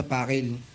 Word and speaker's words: Pakil: Pakil. Pronunciation?